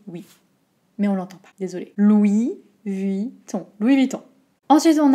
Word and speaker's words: Vuitton: louis louis vi vi quand on prononce vite on peut entendre louis vitton un peu mais si on prononce vraiment de manière les syllabes de manière très distinctes ça fait louis viii dont louis viii oui oui ça glisse